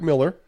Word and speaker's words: Millar: I was like, Al Goff and Mike Miller. Okay, even though it's spelled Millar, as some people like to say.